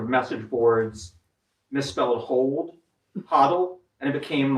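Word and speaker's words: HODL: they pronounce a quad or do they just spell it out? Hodddle. Oh, hodddle. Yeah. So, one time someone in in the um one time someone in the Bitcoin sort of message boards misspelled hold hodddle and it became like a meme and like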